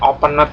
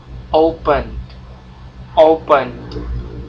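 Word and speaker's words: opened: si Tukul itu ya Bacanya jangan openet tapi anda bacanya open open ya Open Ed yang di belakang anda baca tapi jangan terlalu apa jelas gitu ya Jangan openet gitu salah open open ya oke terus did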